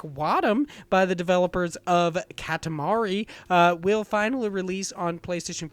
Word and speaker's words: Katamari: know why I said Katamari ok I feel like I got that right but I think I was pronouncing a weird Kadim instead of like Katamari yeah I was a katamari it's like calamari yeah ok this games